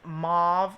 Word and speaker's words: mauve: have next the Nyx mauve or mave depending on how you say it uh lip pencil and